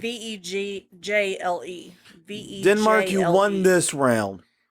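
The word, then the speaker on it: Vejle: Vihe? I don't know. Ville? It's Vegjle.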